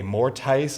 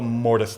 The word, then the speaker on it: mortise: It's called, they call it a mortise lock, but it's actually called a mortise lock. Mortise is just a Latin word meaning to put inside. So what happens with the mortise lock is this giant